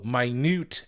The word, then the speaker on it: minute: Oh, minute echoes. It's spelled the same, but it's pronounced differently.